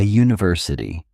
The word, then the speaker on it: university: A university, a uniform, a unit. In these cases, the U makes a J sound like the Y in U which is a consonant sound.